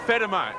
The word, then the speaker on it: Fedema: Fedema is the official pronunciation.